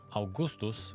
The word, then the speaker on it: Augustus: So, this is Augustus, and Augustus, or Augustus as we would pronounce it, looks a lot like Caesar 3,